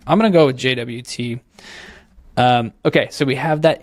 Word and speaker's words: JWT: way, I found out some people pronounce that JOT. I don't know. This is like the new GIF versus GIF argument. I'm going to go with JWT.